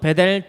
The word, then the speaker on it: 벧엘: 으로서 매츠 rl 이라는 단어로 써 억 즉 벧엘 이라고 발음을 하는 어 이 문자가 기록되어 있다는 것입니다